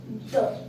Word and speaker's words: the: सबसे पहले हमें ये समझना है आर्टिकल्स तीन होते हैं, ए, एन और द दो वर्ड्स की तरह प्रोनाउंस किया जाता है, पहला द एंड सेकेंड दी।